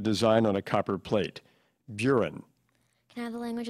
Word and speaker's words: burin: Burin. Can I have the language of origin? Perhaps originally Celtic and perhaps passed through Catalan before becoming French. Buren, and am I pronouncing it correctly? Buren?